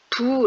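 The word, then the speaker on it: 否: 바로 천지 피그 입니다 이 글자는 아니다 옳지 않다라고 풀때는 부 라고 읽습니다 아니 불자의 입국자 가 결합되어 서 아니라고 말한다 부정한다 란 의미가 있는 것이죠 하지만 이 괴수의 상황처럼 막힌다 통하지 않는다 라는 의미로 풀이할 때에는 비라고 잃습니다 그래서 이 교회의 이름이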